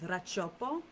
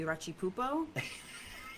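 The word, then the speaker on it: Racioppo: guess you cut down my real last name is rachiopo and uh I chopped it because people would call me rachi pupo and I was tired of hearing it and like saying no that's not how you spell it r-a-c-i-o-p-p-o not p-o-o-p-o so I just chopped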